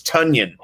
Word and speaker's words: Tonyan: how about uh robert tanyan i think it's tonya because he said it rhymes with funyun like i got a